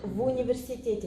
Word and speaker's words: в университете: You pronounce them together as one word. В университете. It's like ву.